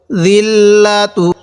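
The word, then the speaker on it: الذِّلَّةُ: জাল লাগবে আবার এই লামের সাথে জিল, লামজবল্লা, জিল্লা, তাপেস্তু, জিল্লাতু। জালটা একটু নরম করে পড়ব।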